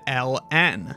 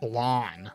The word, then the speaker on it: ln: assumed to be e other people still will pronounce it not as log or natural log but the abbreviated Ln others will just mush the letters together and just call it lawn these issues are contentious